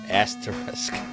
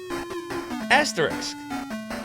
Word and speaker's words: asterisk: asterisk it's an asterisk it's a common Philadelphia ISM asteris asteris am I am I really not saying it right an asteris like this it's an asterisk wait is this not how you say it wait a minute this is a Philly thing we don't say it right how how do you